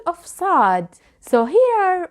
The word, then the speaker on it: صاد: First of all, the shapes of صاد. Please watch carefully. صاد. This letter sound has no equivalent in English. It is similar to the sound of S, but it is not the same.